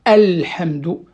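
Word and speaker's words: الحمد: Par exemple, dans la Fatiha, il y a Alhamdu. Alhamdu, vous voyez, le A, je ne dois pas le faire tomber, je dois le prononcer entièrement.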